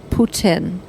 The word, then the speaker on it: Putin: president of Russia's name Putin and really pronounce the T Putin.